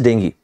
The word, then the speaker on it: dengue: The number of people diagnosed with dengue, the exact pronunciation as I said is dengue.